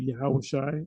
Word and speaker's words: Yahushai: says, it says Jesus, but I'll say Yahushai, the way you're supposed to say it. That's his true name. No J in the Hebrew, and Jesus doesn't mean anything. It's just two syllable noise.